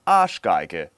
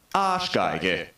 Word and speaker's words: Arschgeige: show today, because the German word today is Arschgeige. Arschgeige. Arschgeige. Arschgeige. This is meaning anus violin, yeah? And you may say it like this. Arschgeige.